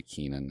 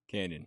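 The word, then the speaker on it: Kenyon: keep on want to say Keenan it's um Canyon Canyon dud he I don't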